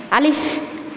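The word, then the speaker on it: ألف: আজকে আমরা শিখব আলিফ থেকে ঝা পর্যন্ত হরফ এবং এর সঠিক উচ্চারণ সাথে শব্দ বলা। আলিফ আলিফ আলিফ বলার সময় দুই ঠোঁটের মাঝখান দিয়ে একটু বাতাস বের হবে।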